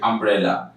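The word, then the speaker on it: umbrella: তাহলে এখানে ইউ এর উচ্চারণ ইউ না হয়ে আ হয়েছে, আমব্রেলা।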